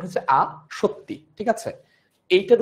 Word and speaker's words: আসক্তি: পাবা তিন সত্যি তো সত্যি যেভাবে উচ্চারণ করি আমাদের আসক্তিটা উচ্চারণ একই আসক্তি লিখবো এভাবে তত সংযুক্ত কিন্তু উচ্চারণ হচ্ছে আ সত্যি ঠিক আছে এইটার উচ্চারণ কেমন হবে এটার উচ্চারণ হচ্ছে আ সত্যি এরকম আর যদি কেউ